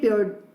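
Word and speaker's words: Pierre: नो वन new this street as well as डिड पियर ड्यूपिन. अब ये हम प्रोनाउंस करेंगे प्योर, राइट.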